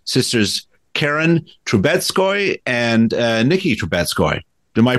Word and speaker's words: Troubetzkoy: And joining me today are the co-creators of the series, sisters Karen Troubetzkoy and Nikki Troubetzkoy. Am I pronouncing your last name correctly?